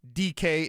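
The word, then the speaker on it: Dike: So, if you're looking for it on your waiver wire, it's D I ke DK is the way you pronounce it. Camary DK.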